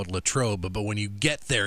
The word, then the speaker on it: Latrobe: where you are in Pennsylvania, you call it Latrobe, but when you get there, you have to, but when you're actually there, Latrobe. Right? Latrobe. Latrobe. It's Latrobe.